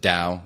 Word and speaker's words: Tao: One is a nootropic called Tao, T-A-O. Some pronounce it Dow, but I'm from Indiana, so I pronounce it Tao.